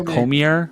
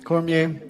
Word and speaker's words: Cormier: It's Cormier. Cormier in French.